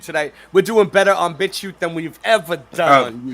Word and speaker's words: BitChute: We're doing better on BitChute than we've ever done on YouTube. Yeah, and BitChute. Yeah, we know. Yeah, we know what you're thinking. We know what you're thinking. It's pronounced bitch, ute.